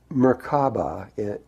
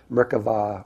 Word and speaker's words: Merkava: Well, the word Merkaba, actually, if you take it in Hebrew, Merkava or Merkaba is how it's said in Hebrew.